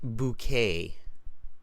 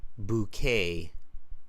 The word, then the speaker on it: bouquet: it's in English it's bouquet bouquet right like Boo like Boo and then K the t is not pronounced bouquet it's an a